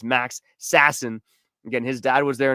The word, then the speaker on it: Max Sasson: And then finally, Max Sasson. Max Sassin, I should say. I got to get the name pronunciation right is Max Sassin.